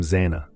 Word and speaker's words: Xana: herself by joking, "I'm Zana," pronounced Xanax, without the X.